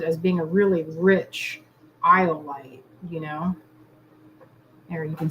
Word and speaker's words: iolite: Iolite. Every time I say it, I got to say it like I'm saying dynamite.